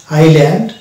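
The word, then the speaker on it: island: ব্যবহার করি আইল্যান্ড তো আইল্যান্ডের স্পেলিং হবে আই এস এল এন ডি এখানে এস থাকে অথচ আমরা এস কে উচ্চারণ করি না কারণ কেননা এস এর পরে আছে এল এবং এস এর আগে আছে আই তো এস এর আগে যদি আই পাই পরে যদি এল পাই তাহলে আমরা সেই জায়গাতে এস কে সাইলেন্ট করবো অর্থাৎ এস এর উচ্চারণ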